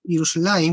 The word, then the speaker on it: Yerushalayim: Se le agrega una I, Yerushalayim, cuando se lo pronuncian, pero en ninguna parte